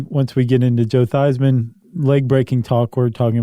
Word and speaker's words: Theismann: reminded me of Joe theseman oh yeah the very famous story of quarterback Joe theseman who changed his spelling or his pronunciation to Theisman to run with Heisman right which I think